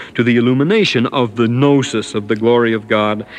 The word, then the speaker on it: gnosis: the gnosis instead of that word gnosis is the same read as i would know spelt with a k using how can i